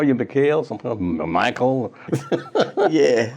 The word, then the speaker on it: Mykal: You know, people call you Mykal, sometimes Mykal. Yeah. How is your name pronounced? It's Mykal, and I was born. Mm-hmm. Mykal is the Arabic word for.